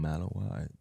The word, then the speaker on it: Malinois: want you but sick looking how do you pronounce it Belgium Malinois oh okay okay they look like uh police